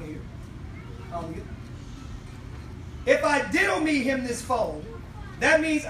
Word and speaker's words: didomi: Put is the Greek word didomi. Amen. Just spell it.